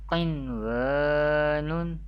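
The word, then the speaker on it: قِنْوَانٌ: How do we pronounce the Izhar-e Mutlaq rules? Dunya, Bunyanun, Sinwanun, Qinwanun.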